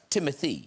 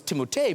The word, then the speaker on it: Timothée: It's pronounced Timothy. It's whatever you'd like. Because I always thought, I don't know if you guys, I thought it was Timothée because of the double E's at the end.